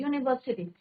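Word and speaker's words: university: यूनिवर्सिटी, तो यू क्या हमारा वोवल है, बट प्रोनाउंसिएशन क्या, उसका साउंड क्या निकल रहा है? यूनिवर्सिटी. तो अ यूनिवर्सिटी लिखते हैं, एन यूनिवर्सिटी is your wrong.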